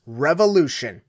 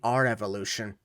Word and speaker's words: R-Evolution: NXT Takeover presents Revolution. Uh, sir, it's actually our evolution. Really? Because it's spelled like revolution. I don't know what to tell you. It's our evolution, not revolution.